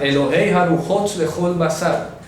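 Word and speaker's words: אלהי הרוחות לכל בשר: Elohei Haruhot lechol basar. Dios, Elohei Haruhot lechol basar. Vamos a escribirla acá. Voy a escribir la pronunciación. El Elohei Haruhot lechol basar. Así se dice en hebreo.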